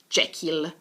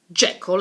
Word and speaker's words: Jekyll: Jekyll, and Mr. Hyde, not Jekyll. Jekyll and Mr.